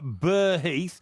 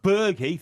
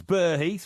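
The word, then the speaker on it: Burgh Heath: um a place near bur Heath which is b u r g h Heath it's not ber Heath it's bur Heath right okay I'm not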